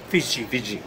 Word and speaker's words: Fiji: correcta en el momento que Fiji, ¿cómo se pronuncia? Fiji.